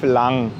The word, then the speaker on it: lang: lockere Stimmung zu erzeugen es wird genauso wie das deutsche lang ausgesprochen es kann als eine